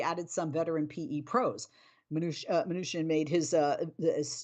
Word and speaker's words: Mnuchin: neither kushner or new i always say his name wrong how do you say it mark it is mnuchin i kind of said it right i responded